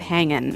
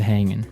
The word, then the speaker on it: hanging: But usually, you don't really pronounce the G in this context cuz it's very informal. So, how's it hanging? How's it hanging?